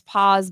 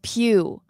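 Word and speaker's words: Pugh: And I'm just like, this is Florence Paw's body type. Oh, Florence Pew. Oh, is that her name? Did I say her name wrong?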